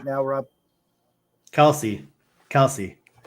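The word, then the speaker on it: Kelce: Kelsey. Kelsey. Got to pronounce the E.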